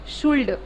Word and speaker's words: should: we should not say should. कैसा होना चाहिए? होना चाहिए should, ठीक है. L नहीं बोलना है, ठीक है सारा?